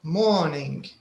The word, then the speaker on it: morning: Then morning, do we say the letter R or we don't? We don't. We don't. Yeah. Yes. Because she said morning.